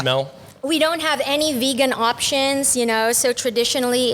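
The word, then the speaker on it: Vigan: A few years back, we went to Vegan. Yep. Is my pronunciation right? Vegan.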